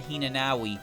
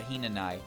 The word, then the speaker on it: Hinanawi: Hinanai is the same way. You don't call her Hinanawi, you call her Hinanai.